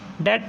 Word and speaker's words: debt: तो इसकी स्पेलिंग ये वाली है हमारी DEBT, ये वो वाला डेट नहीं है, इसकी साउंड डेट वाली है, बस साउंड इसकी सेम है पर हमारी स्पेलिंग इसकी अलग है।